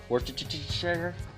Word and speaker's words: Worcestershire: Worcestershire.